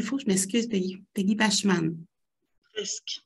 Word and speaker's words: Bachman: Madame Peggy Bachman, je prononce comme il faut, je m'excuse, Peggy. Peggy Bachman. Presque. Bachman.